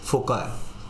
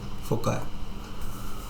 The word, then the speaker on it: foci: So here we have focus and plural of focus is foci. So how do we pronounce it? Foci. Okay, foci.